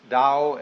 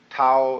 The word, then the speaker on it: Tao: paul the dao tao pronounced dao in the mandarin dialect tao in the shanghai dialect toe in the cantonese dialect take your choice dao